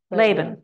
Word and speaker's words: Laban: And how do we pronounce it? Laban or Laban? Anybody know? Stoddard is Laban.